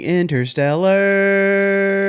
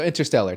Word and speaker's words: Interstellar: it we are doing inter Stellar I'm glad you said Interstellar instead of interstellar cuz I've heard people say it like that I'm like but there's a t just like sometimes wait